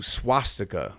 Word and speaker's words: swastika: sanskrit term devanagari which transliterates to svastika but is pronounced closer to swastika when letters are used with their english values sanskrit is one of